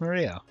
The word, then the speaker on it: Maria: name is written as that of course it's pronounced maria the third character looks like a cross which